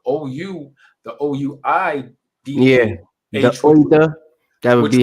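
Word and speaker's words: Ouidah: Yeah, the Ouida. That would be how you pronounce it without the WH. It would be it would be pronounced Ouida because it's French.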